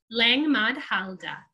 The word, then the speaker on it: Langmahdhalde: And the site is called Langmahdhalde. Uh again, we're pronouncing the E at the end. Langmahdhalde is a difficult name to say in German and English.